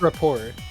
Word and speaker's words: rapport: Rapport, right? It's rapport. It's rapport? Okay. Rappaport's some other dude.